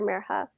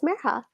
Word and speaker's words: Mirha: They stretched out the I until it sounded like an E, and their R sounded wrong. Some people even forgot the H.